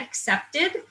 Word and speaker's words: Acceptd: There's one called Get Accepted that's not a typo, that's actually the way that it's spelled. It's ACCEPTD.